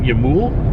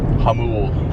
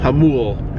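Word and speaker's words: Jamul: Like in how do you pronounce it? Yamul? Hamul. Hamul, outside San Diego.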